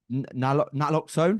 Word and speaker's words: naloxone: And then, of course, we're here to talk about your consultancy services, your coaching, the fact that you promote naloxone. Is that how you pronounce Yeah, it?